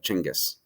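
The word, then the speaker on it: Genghis: him gingas Khan uh his real name was probably pronounced more like chingis um like a CH like chingis Kong um and he was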